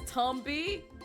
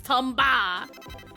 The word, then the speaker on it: Tomba: Twitch says Tombi. It's wrong. It's Tomba. It's Tomba. That's the proper way to say it, Harpy.